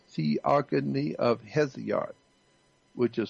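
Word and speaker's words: Hesiod: e o g o n y theogony of heot which is spelled h e s i o d the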